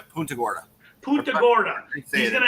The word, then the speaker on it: Punta Gorda: You're going to do one in Portagunda. How do you say that? Portagunda? Oh, yeah, Punta Gorda.